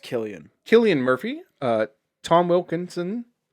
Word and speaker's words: Cillian: uh cillian murphy and it's pronounced killian killian murphy uh tom